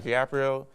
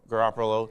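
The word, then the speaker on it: Garoppolo: So also they got Gaprio. I'm pronouncing that wrong. I'm pretty sure Garopolo.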